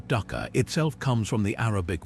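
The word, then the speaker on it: dukkah: Egyptian ducker. Pronounced duka. This aromatic blend of nuts,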